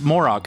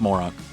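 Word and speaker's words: Moroch: Mor Moro Moro Moro I think it's pronounced morok Moro is kill Team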